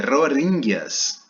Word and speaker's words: Rohingya: eu vou falar a pronúncia certinha para depois eu falar em português porque fica mais fácil. É Rohingyas, é assim que é falado.